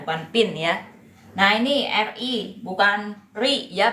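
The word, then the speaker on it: 日: Nah, ini RI bukan RI ya bacanya ya.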